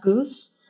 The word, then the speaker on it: GOOS: know there were typing go go actually it's pronounced Goose um and windows and go build and like